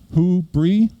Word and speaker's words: Whobrey: in different ways it's it's actually fairly easy it's uh w-h-o question word who and then cheese yeah who bree okay so you know